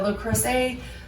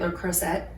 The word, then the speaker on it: Le Creuset: But this is a Le Creuset pot, or if you say it like most Americans say it, Le Creuset.